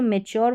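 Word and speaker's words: mature: होगा यू आरई का लेकिन ये जो मैच्योर वाली है यहां पर रूल अप्लाई नहीं होता ये आपको अलग से ध्यान रखनी पड़ेगी क्यों क्योंकि यहां पर भी यू आरई से पहले टी है लेकिन मैच्योर यानी योर करके साउंड इसका प्रोड्यूस हो रहा है ये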